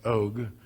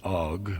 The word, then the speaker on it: Og: og king of Bashan that's how Doug Hamm pronounces it oke the best of us pronounce it OGG we're all wrong sorry Doug I don't know what it is a oke so the